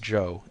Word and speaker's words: Chow: "Spell it Chow if you want to be exotic. It's still pronounced Joe, and that's his name.